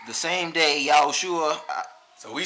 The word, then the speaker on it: Yahushua: But we say Yahushua because we know that in his original language, which was Hebrew, that's how you would pronounce his name.